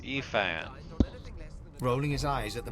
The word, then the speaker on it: Ifan: It's pronounced Ifan. Rolling his eyes at the Magister's warning, the man named Ifan beckons again. Oh, Effin.